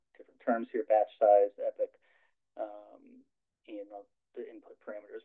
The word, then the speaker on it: epoch: the iterations in an epic epic epic right am I saying that right I'm not saying like in weird okay sometimes I get hung up on the pronunciation on some of these words and oh I was gonna say I think that's heard Epoch and Epoch yeah so I guess either one tomato tomato there was